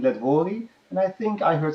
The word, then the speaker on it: Letwory: almost had it right my name it's shocking let Wally and I think I heard something like that